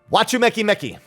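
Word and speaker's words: Wachumeqimeqi: of hander land quest which are called that watchu mecki mecki is how it's pronounced uh they were making a joke about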